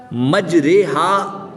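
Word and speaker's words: مجريها: मजरेहा की राह को कतरे, सितारे, हमारे प्यारे की राह की तरह पढ़ेंगे।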